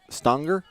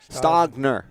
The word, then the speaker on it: Stagner: out to number 10 Lily stonger stay Stagner Stagner pronounce her name wrong though entire game sorry Lily we got